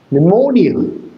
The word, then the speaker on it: pneumonia: Pneumonia. Pneumonia. Pneumonia. Your accent. Your stress is on more is on more pneumonia because it is a tricyic word.